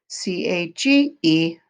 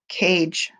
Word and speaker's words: cage: You got it, cage with the magic E, C-A-G-E, cage. Magic E or the silent E makes the A say its name, cage.